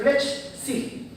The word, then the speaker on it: Flechsig: Se escribe Flechsig. F-L-E-C-H-S-I-G. Es Flechsig. No Flechsig. Como uno cree.